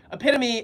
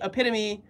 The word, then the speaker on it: epitome: action your logic is flawed um hold on pronounce the word again oh epitome epitome epitome okay I read it wrong epitome epitomy epitome okay oh my gosh literally I'm get I'm